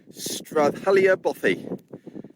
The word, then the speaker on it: Strathchailleach: well ladies and gentlemen welcome to stralia boy now I I'm hoping I'm pronouncing that correctly I've actually done a bit of homework for once and looked it up if you look at the spelling of this B you wouldn't think you'd pronounce it that way but that's what it says on the internet now I'm going to